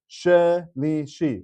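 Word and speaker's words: שלישי: decoding the proper way, the rule is if you have a sheva under the first letter of the word, then it is a sheva na and it is pronounced. So this word is shelishi or shelishi.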